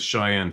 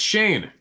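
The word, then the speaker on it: Chyne: right my name is Cheyenne oh Shane oh sorry pronounced Shane c h y n e pronounced Shane all right got you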